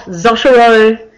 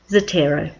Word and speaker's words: Zotero: source citation management software it says this is pronounced not zuro but zero